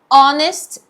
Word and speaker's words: honest: O H não tem som. Ele Então é mudo. a palavra começa com som de vogal.